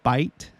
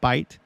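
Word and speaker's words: בית: in a new hebrew house or home is bite that's how you pronounce it bite so for example this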